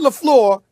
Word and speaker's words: LaFleur: Okay, Matt LaFleur. I mentioned that name, right? Did I say correctly, Sometimes Molly? you think you're from Petty. All right. No, yes. Listen. Now listen. Matt LaFleur is 22-6 as the head coach.